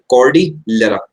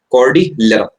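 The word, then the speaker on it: Cordillera: इसके अलावा आप इधर देखो, सबसे पहले तो मेरे साथ साथ इसे प्रोनाउंस करो, कॉर्डिलेरा। बोलो भाई उधर बोलो, वरना बोला ही नहीं जाएगा, कुछ भी लिख दोगे। कॉर्डिलेरा, कॉर्डिलेरा हाइलैंड्स जो हैं ये आपके किधर पड़ते हैं,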